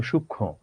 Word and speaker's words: সূক্ষ্ম: এখানে ধরো এই কবিতায় একটা শব্দ আছে সূক্ষ্ম, হ্যাঁ এটার উচ্চারণটা আসলে সূক্ষ্ম, একটু অনুনাসিক বা একটু নাক আসবে।